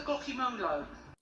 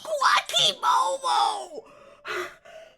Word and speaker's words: guacamole: Where to put the Glocky Molo? Ugh. Guacamole! Guacamole! Guacamole! His fucking face! This just fucking psychic damage to your nachos. God, again, a room full of grown adults just consistently mispronouncing a word with it fucking written down on paper in front of them. Just fucking sound it out phonetically. It's not that hard.